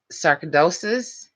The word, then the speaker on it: sarcoidosis: sometimes for X-rays and stuff for people with sarcoidosis.